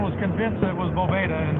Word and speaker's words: Boveda: It's Boveda.